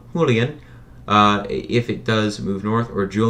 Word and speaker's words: Julian: And, so, okay, Oh, and if you're wondering how it was pronounced, it is indeed pronounced Julian.